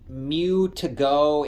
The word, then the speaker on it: Mewtogo: made by a company I think it's pronounced Mew to go it's m-e-w-t-o-g-o I bought